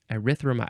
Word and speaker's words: erythromycin: Next is erythromycin, or no, I think I added a syllable. Erythromycin, because the end of the word is mycin, noun from 1952.